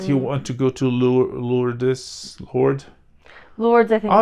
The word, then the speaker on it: Lourdes: Off camera on the IMDb page, it says that he went to and that I don't know how to pronounce it. Lourdes. Oh, Lourdes.